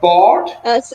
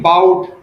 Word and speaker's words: bought: it was also mispronounced it was bought you were saying bow I bowed okay try not to repeat